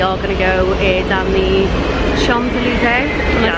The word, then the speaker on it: Champs-Élysées: It's got an M and a P in it, so I literally don't know how to say it. You don't pronounce them. Champs-Élysées. Champs-Élysées.